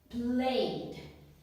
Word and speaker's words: played: Played. Here we hear ed making the sound d, but it's still ed.